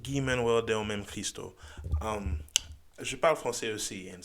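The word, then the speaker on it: Guy-Manuel de Homem-Christo: Yeezus, produced in part by Travis himself and Guy Manuel de Onam Cristo. Hope I said that right. No, I still fucked it up. It's pronounced Guy Manuel de Onam Cristo.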